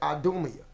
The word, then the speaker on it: Idumea: Right here where it says Edom, if you want to say that in Greek, it would be pronounced as Idumea.